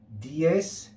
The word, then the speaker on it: dies: form two separate syllables so for example dies we should not say d a as if it's two syllables we should say d e because that e and e are separates they're separate okay we look at dies